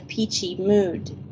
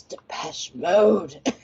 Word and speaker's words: Depeche Mode: Depeche Mode, and they all called it the Peachy Mood. And I'm like, you guys are idiots. But I mean, they were going to a Depeche Mode concert, and they're calling Depeche Mode the Peachy Mood, like they were pronouncing it correctly.